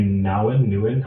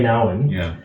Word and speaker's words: Nouwen: In the Name of Jesus by Father Henry Nouwen, however you... I learned over the weekend that it's pronounced Nouwen. Okay, Father Henry Nouwen has a great book called In the Name of Jesus.